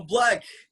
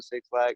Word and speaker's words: 6lack: It doesn't change the fact that my name has been Black. It's been Black since like middle school, elementary school, really. And I had all the mispronunciations figured out before everybody else had them figured out. When nobody knew who I was, I already knew Six Black, Six Black, Slack, all of that.